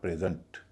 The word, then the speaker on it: present: इसका उच्चारण होता है प्रेजेंट। प्रेजेंट, क्योंकि पहले हिस्से पर स्ट्रेस है तो उसका उच्चारण हो गया ए।